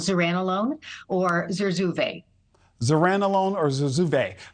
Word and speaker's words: zuranolone: It's called zuranolone or Zurzuvae.